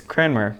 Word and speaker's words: Cranmer: It's Cranmer, but I think when you say it like 3 times fast, you say Cranmer. You just start to lose the N.